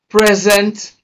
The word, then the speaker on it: present: Rule number three, if a two-syllable word is used as an adjective and also as a verb, stress the first syllable when it is an adjective and stress the second syllable when it is a verb.